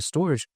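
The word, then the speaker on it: Storj: narrative of decentralizing data storage, yeah, sure, some other projects out there like Filecoin, Arweave, Sicoin, StoreJ, spelled like Store J. Some people call it storage, whatever.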